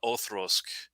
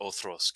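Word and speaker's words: Auchroisk: This is a Othrosk. I know it sounds weird me seeing it that way, but that's how you pronounce it, Othrosk.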